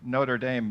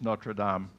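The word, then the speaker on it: Notre-Dame: with the football team we're saying Notre Dame in in English but in French it's Notre Dame do you know that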